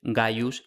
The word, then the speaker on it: Gaius: De hecho, las veces que los nombres aparecen escritos completos, sin abreviar, lo que hay es efectivamente Gayus Gnaus con G.